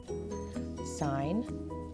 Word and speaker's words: sin: We are still going to pronounce this word sine, not sin, because it is referencing this word.